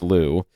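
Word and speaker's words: Lugh: Their theory well not their theory but the what they put forward is millennia ago Louu l u gh but pronounced Louu was the Celtic god of sun and light.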